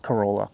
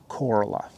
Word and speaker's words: Corolla: by the virginia border it's after a town called corolla not corolla coralla and um they don't know even though it's spelled like corolla it's coralla like coral like coral reef and i have a